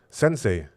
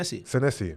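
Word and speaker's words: Senesi: Uh, how do you pronounce this guy's name? Sensei. Seni. Senessi.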